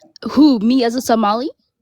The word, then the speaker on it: Somali: Here comes a Somali pirate refugee. Finally, it finally you said it right. It's not Somalian, it's Somali.